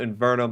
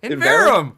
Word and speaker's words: Inverum: left-hand corner and follow Invernum, as well as follow him on Twitter at Invernum Gaming. You're never going to say my name right. Never. What is it? Inverum. Inverum. There's no N in there.